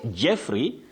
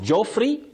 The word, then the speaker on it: Jeffrey: Then we have Jeffrey not Joffrey and not Joffrey. Pas not PS.